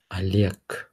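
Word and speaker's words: Олег: yeah Yvonne Maria Maria Oleg is pronounced as Alec Alec Anastasia it's pronounced as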